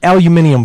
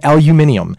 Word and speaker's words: aluminium: grilling which actually it's aluminium foil I found out that the proper pronunciation and spelling is aluminium and the reason that